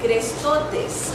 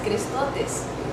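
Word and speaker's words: χρηστότης: benignidad, sino que está una palabra que se pronuncia crestotes, así se dice en griego benignidad, o lo tradujeron en español como benignidad y en griego es crestotes.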